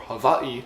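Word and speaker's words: Hawaiʻi: Hawaii Hawaii is or Havi as the locals pronounce it got that little Pro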